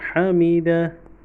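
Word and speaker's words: حَمِدَهُ: হা, মিম জের মি, হামিদ আল জবর দা, হাল পেশু। এইখানে উল্টা পেশের উচ্চারণটা হবে না, যেহেতু আমরা ওয়াকফ করছি, শুধু হায়ের উচ্চারণটা হবে হামিদা।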